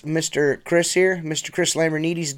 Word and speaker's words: Lambrinides: Chris lamer needies did that do I say that right Lambert Edie's basically you're saying it right I'm basic he's